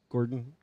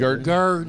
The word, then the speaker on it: Gurdon: And then Arkansas 24 to Arkansas 53 to Gordon, whatever, how we pronounce it. Gurdon. Garden.